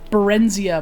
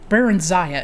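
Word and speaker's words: Barenziah: There's this one character called um Baren Baronzia and I have pronounced it Barenzia my whole life. Baronza is how you say your name actually.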